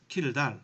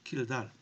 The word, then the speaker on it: Kjeldahl: Okay, this one people pronounce Kjeldahl. Okay, Kjeldahl.